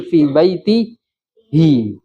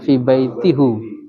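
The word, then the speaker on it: في بيته: Karena pengucapan sebelumnya kasroh, jadi untuk mempermudah pengucapan menjadi fi baitihi, enggak fi baitihu.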